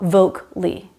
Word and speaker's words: vocally: Vocally is not vocally. It is 3 syllables.